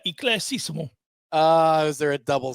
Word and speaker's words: éclaircissement: I know you are, and I'll tell you there is an R, but I said it the way that they pronounce it. Here you go. Éclaircissement. That is how it is said. Éclaircissement.